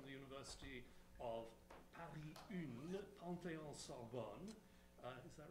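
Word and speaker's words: Panthéon-Sorbonne: Noémie received her doctorate jointly from the University of Paris Une, Panthéon Sorbonne. Is that right? It's perfect. Good. and the University of Geneva, which I'm pronouncing in the English manner, in 2011.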